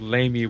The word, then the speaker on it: Lamia: I used to call them, lemurs because I thought the word Lamia was just insulting. Which it is, but, you know, that's the way it's actually pronounced.